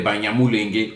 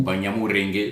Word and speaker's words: Banyamulenge: à la mode aujourd'hui, comme des Banyamulenge ou Banyamurenge selon la prononciation des uns et des autres.